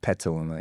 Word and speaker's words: Petaluma: you've lived in Petaluma so how you pronounce it pet Petaluma yeah Petaluma um Shanghai Dubai where's